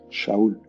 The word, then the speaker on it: Saúl: el rey Saúl, pero él se llamaba Saúl y se pronuncia Shaul.